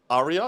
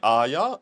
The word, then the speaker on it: Arya: is thickening oh yes Arya Arya is that right I think you guys told me I was saying it wrong when I was saying areya are you or something [ __